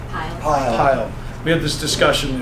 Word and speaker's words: Pyle: Pyle.